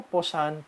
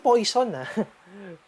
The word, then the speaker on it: Poisson: Poisson CD. Hindi poison, Hindi poison yung pagbigkas. Poisson CD.